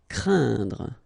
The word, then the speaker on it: craindre: So it's quite interesting here because you've got this combination of letters, so A, E, and then N, okay, so it will be a nasal as well, and then it will be pronounced like un, so keep in mind that it goes in your nose, so you don't hear any N when I pronounce it, and then C plus R will produce the sound cr, crain, craindre. Emporter, okay, same thing here for the nasal, emporter.